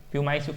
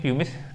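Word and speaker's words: pumice: ठीक, प्यूमाइस लोग बोलते हैं, लेकिन प्यूमिस तो ये स्पेलिंग है, ध्यान रखना, प्यूमिस हिंदी में ध्यान रखना, स्कोरिया प्यूमिस।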